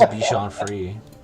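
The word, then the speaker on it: Bichon Frisé: say it yeah maybe a lot of people say sean fancies but i think it is bichon free yeah and angie you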